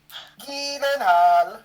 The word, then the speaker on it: Gyllenhaal: Gyllenhaal. Apparently that's how you're meant to say his name.